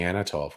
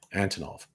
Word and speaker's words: Antonov: I wasn't paying that close attention, and I think I was saying Anatov, wasn't I? Antonov.